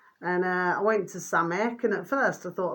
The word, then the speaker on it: Samech: It was called Samek, which is spelt SAMECH. Samek. SAMECH.